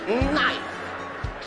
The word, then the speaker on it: knife: She said, "The K is silent."